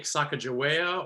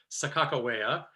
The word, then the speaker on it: Sakakawea: our subject is uh the iconic sacagawea or as we say her name here in north dakota sakakawea because she is a woman of many names and um um when